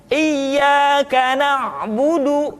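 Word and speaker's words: إِيَّاكَ نَعْبُدُ: kita tidak boleh mati contoh Iya Kana Budu bukan karena bodoh tetapi agak ditekan sedikit karena wudhu iyyaka nabudu Hai itu pengucapan huruf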